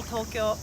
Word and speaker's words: Tokyo: before we got on tokyo and probably for 20 years nobody had ever corrected me do you say tokyo or tokyo tokyo yeah tokyo two syllables uh for japanese we say tokyo tokyo or as